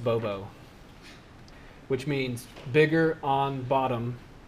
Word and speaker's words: BOBO: So B O B 0, pronounced Bobo, which means bigger on bottom, you get 0.